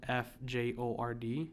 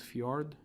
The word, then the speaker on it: fjord: The J in their language, I hope I'm not getting this wrong, but it's like a lot of the J's mean a Y. So it's like fjord or Bjorn or something like that.